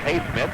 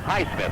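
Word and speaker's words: Highsmith: to shoot two here's hay Smith makes the first High Smith I guess is the way we should say his name hey wood heith awood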